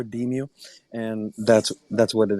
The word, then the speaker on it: DEMU: we pronounce it a demu so it's short for decentralized music and I just kind of squash those two together deem you and that's that's what